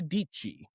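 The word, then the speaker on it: Dietschy: And I see a tweet to me from Sarah Dichi. Um, rhymes with peachy.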